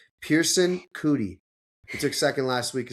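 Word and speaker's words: Coody: It could be like Pearson cootie, but it's some sort of cootie, not cooter.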